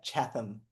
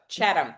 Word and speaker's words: Chatham: to a Savannah city Chatham County. No, Chadam. Chatam. Chatam said Chatham and immediately was like the H is there but is is not recognized. Chatam.